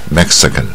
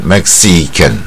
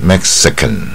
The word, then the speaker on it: Mexican: ，不是 E 是带鹅的音 E 啊 Mexican 啊，如果念到 E 的话就 Mexican 啊，就差一点啊，带鹅的音 Mexican 啊，所以这种音亚洲人常常不会念啊。